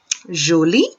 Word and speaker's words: joli: Jolie or jolie. It's pronounced the same.